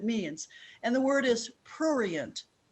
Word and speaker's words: prurient: And the word is prurient, P-R-U-R-I-E-N-T, prurient.